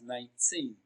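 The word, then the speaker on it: nineteen: Now, 19 is pronounced and broken down into syllables as 19. Teen is pronounced louder and longer. It receives the stress.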